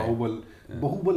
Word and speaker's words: बाहुबली: बाहुबल नहीं है, बाहुबल है, सॉरी प्रोनाउंसिएशन करेक्ट करें।